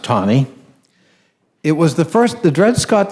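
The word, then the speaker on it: Taney: and I can't help but being a Civil War buff myself, it is pronounced Tawney.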